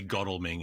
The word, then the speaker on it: Godalming: Yeah, apparently Godalming is how you pronounce it because it's England and you have to do things difficultly.